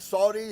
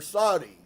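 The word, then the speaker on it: Suddi: play name a nickname the pronunciation sounded something like Saudi or Saudi with an accent on the last syllable I will use sui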